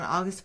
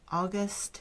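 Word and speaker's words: Auguste: Van pels and Herman's wife August if I'm saying that right Herman and August son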